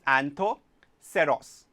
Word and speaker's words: Anthoceros: next example is Ria so how do you pronounce the word anthoceros let us study that in detail that is Anto seros